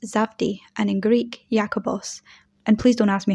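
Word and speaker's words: Ἰάκωβος: In Aramaic, his name would have been pronounced Zavdi, and in Greek, Jakobos.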